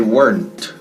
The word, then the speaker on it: weren't: Escrito weren't. Pero no se pronuncia weren't. El pasado de verbo to be. I was, you were, they were. Negativo, they weren't. Weren't. Eran, no eran. Estaban, no estaban. They weren't. Una sola sílaba. ¡Pam! Weren't. They weren't hungry enough.